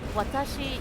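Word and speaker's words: わたし: most people don't know like Watashi you hear the clear W stuff when I pronounce it um and again that's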